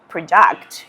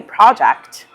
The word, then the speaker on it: project: Like, you're not going to say project, you're going to say project, or you're not going to say party, you're going to say party.